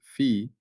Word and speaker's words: Phi: Fi pronounced fee is circular comparability.